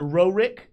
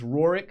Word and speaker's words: Rorick: So it's not Rorick, it is Rorick.